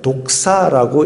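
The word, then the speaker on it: δόξα: 헬라어를 읽으면 독사라고 읽혀지는 단어가 그겁니다. 뱀이 아니라, 그 다음에 구약에는 영광이라는 단어가 카보드라는 단어입니다.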